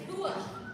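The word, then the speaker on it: Höhe: I was pronouncing it Hoke. It's Hua.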